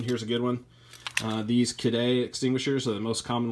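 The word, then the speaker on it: Kidde: you this one here's a good one these kedai extinguishers are the most common ones that you find at Home Depot it is pronounced kadai I've called the company before because it was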